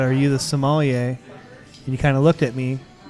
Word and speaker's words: sommelier: It's not Somalian. Yeah. No, not Somalian. Somali.